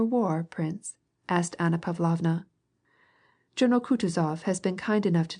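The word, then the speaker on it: Kutuzov: General Coutuz has been kind enough to desire me as his aid to comp. He spoke in French and accented the last syllable of Coutis's name like a Frenchman.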